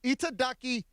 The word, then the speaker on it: itadakimasu: So it's itadakimasu.